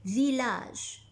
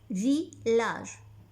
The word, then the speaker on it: village: Et la même chose pour le mot village. Village. On voit I deux L, mais on n'entend pas I.